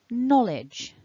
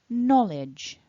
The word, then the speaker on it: knowledge: a j j and it's the same sound in a word like jump or july j so you need some voicing in your throat and remember no e at the end so that final syllable is edge edge like in the word bridge edge so bringing it all back together together remember stress the first syllable knowledge repeat after me